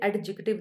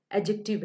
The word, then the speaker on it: adjective: एडजेक्टिव, इसे मैंने बताया था आपको कि इसे एडजेक्टिव नहीं पढ़ना, इसकी प्रोनाउंसिएशन जो है वो एडजेक्टिव है।